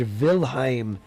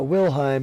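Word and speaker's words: Wilhelm: one of those names George vilim it's not willheim it's vilim Vil their W's are pronounced with the V at the moment their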